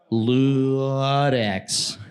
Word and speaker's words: Ludex: pronunciation is Ludex.